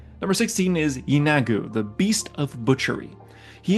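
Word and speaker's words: Yeenoghu: Our final demon lord is number 16, Yogu. My I definitely butcher that. Hold on. Hold on. Yagu. There it is. Number 16 is Yinagu, the beast of butchery.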